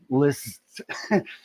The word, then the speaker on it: Liszt: It's Liszt, Liszt. So Franz Liszt, most people just say Liszt, like List.